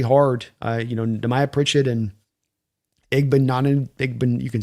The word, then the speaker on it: Igbinoghene: Yeah, it's Igbinoghene. I always just remember it rhymes with mahogany and then it kind of just flows. Igbinoghene.